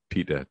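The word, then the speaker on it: Petyr: Well, it is spelled P-E-T-Y-R. So it's not just Peter. Peter. It sounds like Peter.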